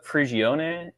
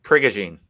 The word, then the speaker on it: Prigogine: It's Ilya Prigione. Just let me Ilya. Just type in Ilya Priogone. Oh, I think it's pronounced Prigogine.